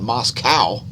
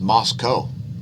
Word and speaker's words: Moscow: Moscow nicely done and don't call it Moscow that's a that's a cow that eats lichens it's pronounced Moscow ask Bill Whittle he agrees and we see a downtrend